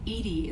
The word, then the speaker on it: EDI: are you named Edie Edie is the phonetic pronunciation of EDI that is an acronym for enhanced defense intelligence location where are you